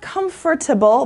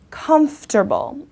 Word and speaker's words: comfortable: let's keep going comfortable okay not comfortable but comfortable alright providing physical ease and